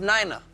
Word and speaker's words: Nina: Spelled Nina, pronounced Nina.